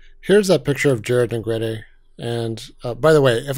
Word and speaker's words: Negrete: But, you know, Jared is from a family whose surname definitely should be pronounced as Negrete.